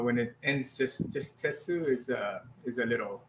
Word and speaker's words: Tetsu: pronounced different ways yeah tetsu is is the way to pronounce it for philosophy but you can also